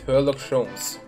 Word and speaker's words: Herlock Sholmes: Yes, I did not pronounce that incorrectly. It's Herlock Sholmes.